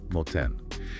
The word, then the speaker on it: 盲点: And the pronunciation guide for that is moten.